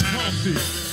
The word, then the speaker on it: Humpty: My name is Humpty, pronounced with an umpty.